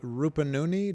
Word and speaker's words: Rupununi: All the way from South Rupununi. Do I pronounce that correctly?